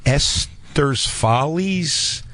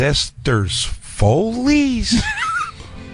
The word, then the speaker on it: Esther's Follies: Did you just pronounce Esther's Follies as Esther's Foley's?